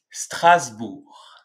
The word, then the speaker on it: Strasbourg: prononce ça correctement bref cette ville s'appelle Strasbourg Strasbourg trace bourg ensuite pour l'avant-dernière ville